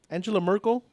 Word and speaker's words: Angela Merkel: uh the German Chancellor it's not angel um Angela Merkel yes mhm is that how you pronounce her name mhm so now now